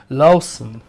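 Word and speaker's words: Loosen: Lucen, this is Mosel, and they make lots of different wines, lots of different wines. We have a pronunciation check on that. It's more like Lawson.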